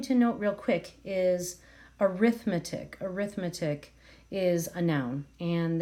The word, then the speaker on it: arithmetic: the word sequence here it's pronounced slightly different even though the spelling is the same so it kind of is pronounced like err arithmetic sequence so just wanted